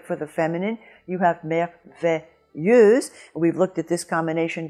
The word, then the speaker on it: merveilleuse: We've looked at this combination before, the S between two vowels sounding like a Z, and the EU in front of a Z sounding like E. So in both cases, you have that vowel E, merveilleux and merveilleuse.